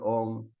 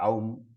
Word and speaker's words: Om: So, very nicely pointing out that Om is to be pronounced Eka Aksharam, one syllable. So, which means what? Om. Not Aum, not AUM. There are so many people who pronounce so many ways, but Om is Eka Aksharam, Om.